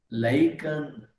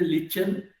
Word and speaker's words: lichen: lichen. Who pronounced that lichen?